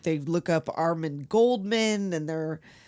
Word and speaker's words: Goldman: Corrects to Goldman, not Coleman. Oh, but in France it's this is silent in America.